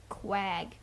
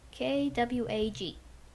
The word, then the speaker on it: Quag: Quag. Actually, Kwag. That's how it's pronounced.